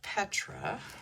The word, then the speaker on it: Petra: Him and his wife Petra, rhymes with my name, Ketra.